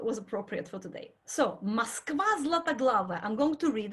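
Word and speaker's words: Москва: Moskva you know. Now if you used to pronounce Moscow as Moscow, say Moskva from now on.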